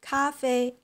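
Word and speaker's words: 咖啡: writing for letters so in Chinese it's pronounced Cafe so Coffee Cafe in Japanese it's called he so so English Japanese Chinese were pronounced like coffee kohi cafe well which one you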